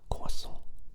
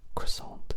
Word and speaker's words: croissant: I always feel really weird going croissant because obviously I'm not French and that's the real pronunciation, but then croissant just sounds so like you're not taking it seriously. So I never know how to say it.